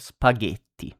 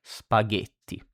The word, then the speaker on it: spaghetti: key then we have spaghetti G you see like in gate or gusto that we have seen before G spaghetti.